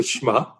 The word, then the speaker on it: schmuck: and she called me a Jewish name and it rhymes with truck and that's that's a schmuck I said you better